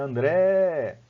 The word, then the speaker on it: André: Quando minha mãe me chamava, ela dizia André. Então, por quê? Ela dizia André e alongava o André. Se você for ver, vai coincidir. A mesma sílaba tônica do meu nome, que é o Dré, né, vai coincidir com a